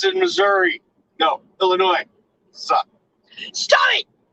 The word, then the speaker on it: Illinois: but we live in illinois no we don't oh my god don't ever say it again there's an s in it there is no s it's silent but there is an